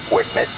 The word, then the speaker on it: WCMD: wind Ed munition dispenser or wcmd for short pronounced Wicket the Wicket system uses